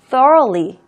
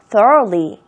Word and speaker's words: thoroughly: thoroughly. 이거 발음하실 때 주의하세요. 또 roughly 아닙니다. thoroughly.